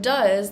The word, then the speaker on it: does: Then we have the word does that follows the same spelling pattern as shoes, but is pronounced completely different.